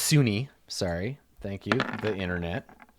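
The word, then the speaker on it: Sune: It's actually pronounced Sunni.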